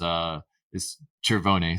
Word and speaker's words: Cervone: Carl told me the way to pronounce his name is Cervone. So hopefully I'm getting that correct.